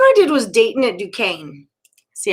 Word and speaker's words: Duquesne: So the first one I did was Dayton at Duquesne.